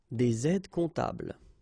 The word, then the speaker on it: des aides comptables: Un aide comptable, des aides comptables. Okay, same thing, you put this S and S here, but then you don't pronounce them.